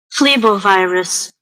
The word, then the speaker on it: Phlebovirus: Phlebovirus. Flevovirus. Phlebovirus. Boom. There you go. Sound like a F.